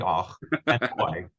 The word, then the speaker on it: Och and Oi: Och and Oi, is that how you pronounce it?